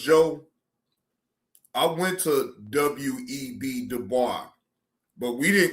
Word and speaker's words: Du Bois: Du Bois is not somebody that a lot of young black folk admire, but they admire Booker T.